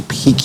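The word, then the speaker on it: pique: p i ca and it is pronounced pic just like p-i-c-k you know there are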